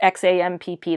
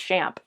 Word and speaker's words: XAMPP: That's XAMPP. That's like the one I do really know how to pronounce properly. Some people say XAMP, but I learned it's SHAMP.